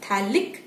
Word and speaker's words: phthalic: aromatic type phthalic acid remember ph is silent and you just call it as phthalic acid where you have two